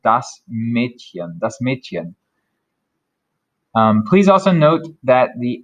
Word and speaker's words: Mädchen: This one is pronounced more like a cat hissing, so it sounds like sh, sh. So Mädchen, Mädchen.